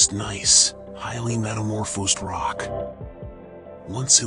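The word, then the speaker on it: gneiss: The bedrock here is nice, pronounced nice, highly metamorphosed rock.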